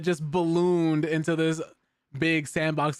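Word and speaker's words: s&box: But 20 years after Gary's Mod pretty much changed everything, Face Punch Studios has revealed that the Sandbox successor, yeah, Sandbox, pronounced Sandbox, will finally launch on Steam April 28th.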